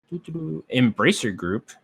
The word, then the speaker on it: Embracer: sure uh next up embracer group am i pronouncing that right yeah okay embracer group has acquired 13